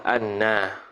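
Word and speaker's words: أنّ: lagi pula dia taklik lah bacanya bifathil hamzati a kauni Anna hal keadaan Anna itu makruan dibacakan dia bifathil hamzati dengan difathahkan akan Hamzah wunil musyaddadatif kepada Apa nama tu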